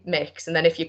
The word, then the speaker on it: Mx: I think it's pronounced mix, so like Mix.